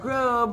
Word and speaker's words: Grubb: just kidding it's Grubb rhymes with love from Key West local